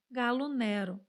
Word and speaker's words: Gallo Nero: lenda do galo mineiro galo negro é como se diz em italiano galo Negro aqui no Brasil alguns até pronunciam Gallo Nero segunda forma escrita isso